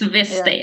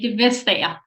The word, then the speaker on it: Vestager: Vestager. You Vestager. don't pronounce the T. The T is silent in Danish.